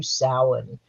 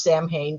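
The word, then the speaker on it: Samhain: when it comes to sin and I'm assuming you all know that that is spelled h I'm sorry s m ha Ai and it is PR not pronounced Sam Hayne please do not name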